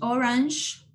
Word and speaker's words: orange: Red, orange, es como SH, orange, yellow, green.